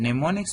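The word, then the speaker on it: mnemonic: नियुक्त लेकिन यहां पर कंसेप्ट नियमों को कि निमोनिक बेसिकली इसको निमोनिक्स कहते हैं हम साइलेंट एन है कि कि को टेंपो ने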